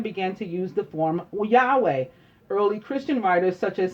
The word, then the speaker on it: Yahweh: Clement of Alexandria in the 2nd century had used a form like Yahweh, and this pronunciation of the Tetragrammaton was never really lost. Many Greek transcripts also indicated the YHWH should be pronounced Yahweh.